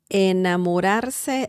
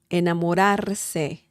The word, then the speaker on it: enamorarse: Enamorarse looks like a very long word, but it's not that difficult to pronounce. Enamorarse. The R sound is there, two different ones.